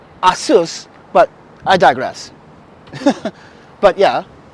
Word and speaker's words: Asus: or an Asus or how you Americans say you say Asus it's Asus but I digress but